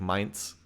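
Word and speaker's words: Mehmed: War M oh okay I can see the pronunciation is more like mes gotcha yeah I'm doing more of a I'm doing like a French pronunciation you're right so okay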